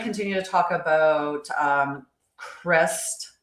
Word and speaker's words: Kryst: Um but we are going to continue to talk about um cris. It's supposed to be like Christmas how that word would be pronounced. and spelled K R Y S T um when we